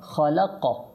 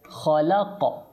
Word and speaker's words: خلق: ওকে আচ্ছা তারপর দেখেন খলাক এটা খ এটা কফ খলাক খ লাম কফ খলাক আচ্ছা আপনাদেরকে একটা জিনিস